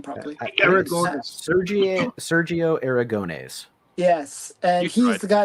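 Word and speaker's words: Sergio Aragonés: then Sero Sero Aras I I can never pronounce his name properly Sergio Sergio aragones yes and he's the guy that did group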